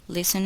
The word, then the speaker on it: listen: The letter T is silent in the following words. Listen and repeat each word after the speaker.